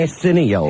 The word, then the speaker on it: Arsenio: Is Arsenio your enemy, too, Club Soda? I don't think you're pronouncing his name right. What is his name? Arsenio.